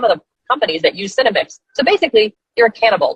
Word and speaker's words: Senomyx: Yeah, it's just, between that and the Cinemix, which, by the way, Clay Clark pointed out Cinemix about a month ago. Cinemix is the flavor ingredient, and it's spelled SENOMYX, Cinemix.